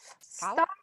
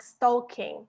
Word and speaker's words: stalk: It depends on if you pronounce it in more American way, it's like stalking, like a stalker, как stalker. But if you pronounce it in more British way, L is very, very subtle, очень такая мягкая, stalk, stalking. So guys, any famous people?